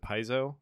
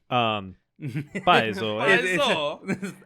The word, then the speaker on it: Paizo: Most famously would be the company of, I can never pronounce it, Paizo. You got it right. Yeah. Paizo.